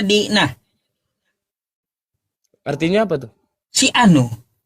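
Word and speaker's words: δεῖνα: Bahasa Yunaninya Dena. Dibacanya Dina.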